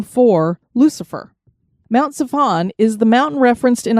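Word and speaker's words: צפון: It is so intermingled with north that the Hebrew word for north is Zaphon. So Mount Zaphon is spelled Zephon.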